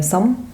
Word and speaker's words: Sông: Oui, donc le titre il est en vietnamien, c'est Sam, enfin prononce en vietnamien, ça veut dire envie, vivant.